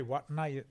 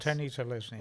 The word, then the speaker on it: Watene-Zelezniak: Dallin Watene-Zelezniak, and coach Did you say Watene-Zelezniak? That's what we say on ABC, yeah. I go with Tenny. Yeah. With Tenny-Zelezniak.